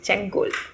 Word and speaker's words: Sengol: In 1947, Sengol, I would like to take the liberty to call it Sengol because I'm from Kerala and that's how we pronounce it here.